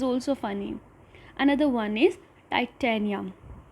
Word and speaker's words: Titania: Another one is Titania. I know everybody must be remembering the movie Titanic. Her name resembles it, so that is Titania.